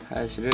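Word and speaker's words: 林: 이 하야시가 거기다 한자를 갖다 붙이게 돼서 이제 하야시를 이렇게 숲을 림자를 써놓고 하야시라고 읽게 되는 겁니다.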